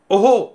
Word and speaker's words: ओम: तो ये ओहो का एक उच्चारण आता है, ओहो मतलब बोलने में हम बोल रहे हैं लेकिन जो ओम पूरा होता है ना, ओम, इस उच्चारण में म नहीं लगाते हैं।